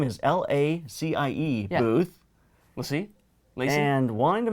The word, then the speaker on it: LaCie: And he goes, LaCie. No! I go, like the dog? No! He goes, yes, like the dog. He goes, yes, it's LaCie.